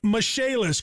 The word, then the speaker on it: Michaelis: restoration and insurance restoration spelled m-i-c-h-a-e-l-i-s pronounced mishaelis call 844 fix indy